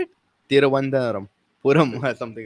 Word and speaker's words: Thiruvananthapuram: are going to be in Guwahati, Hyderabad, and Thiruvananthapuram? How do you say Trivandrum? This is Trivandrum, right? Yeah, Trivandrum. How do you say it? Thiruvananthapuram.